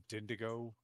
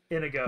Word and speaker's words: Inigo: I was like, think Princess Bride. I was like, Inigo Montoya.